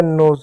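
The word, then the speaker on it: nose: ओ एक मात्रा है, दो मात्रा के बीच में ऐसा है तो एस का उच्चारण जो है स नहीं बल्कि ज होता है।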